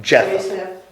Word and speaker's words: Japheth: Japheth.